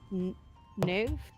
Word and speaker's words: Niamh: I believe it's pronounced Niv. It could be Something like that. Niv, But Niv, it's like or Niv. Niamh. Yeah, how it's right. spelled. Right, that's Niv. So I was like, "Are you just mispronounced Neve?"